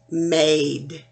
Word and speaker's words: made: the e is quiet so we never hear the e at the end of the word so this word instead of mad becomes aid made mad made here we